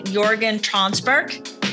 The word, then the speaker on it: Jörgen Tranberg: I want to say hi to Jörgen Tranberg. Am I saying that right, Jörgen? Yeah, you actually pronounce it perfectly, so thank you.